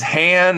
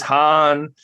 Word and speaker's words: Han: It's it's Han. It's Han.